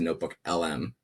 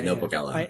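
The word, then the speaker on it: NotebookLM: Now you take that 60-page report and then you put it into Notebook LM and then you ask it to generate an audio podcast.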